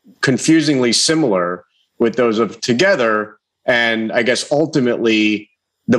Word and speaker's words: TOGETHXR: so we're tracking this we have the new together i learned how to pronounce that right uh cease and desist here